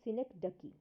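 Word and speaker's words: synecdoche: we have synector key now please do see the pronunciation it's synec ducky okay so Synergy key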